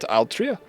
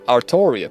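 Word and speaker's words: Artoria: In the uh in the English dub, it's not Altria. It's Arttoria Pen Dragon. Interesting to see they kept the uh Japanese version. I guess the Japanese pronunciation for it.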